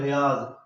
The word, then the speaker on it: ریاض: تھے، RIADH، ریاض، RIADH۔ تو یاد رکھو اگر خالی ریاض ہوتا تو وہاں یہاں زی لکھتے، زی کی بجائے وہاں DH لکھا ہوا تھا، تو پتہ چلا کہ